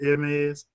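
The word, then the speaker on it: Hermès: How do you pronounce it? Hermes.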